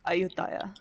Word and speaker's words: Ayutthaya: aut a Ayodhya okay that's the Thai pronunciation if there may be it's weird in the game I don't know but if you go to Thailand that's ayutthaya and then I -